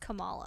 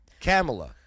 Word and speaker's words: Kamala: yeah yeah so what I've only heard it pronounced Cala I know and then all of a sudden they tried to say no it's k or camela camela camela wow okay oh boy